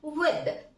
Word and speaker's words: with: Next we are just moving for another विद। Friends mind the pronunciation, ये विथ नहीं है, ये विद है।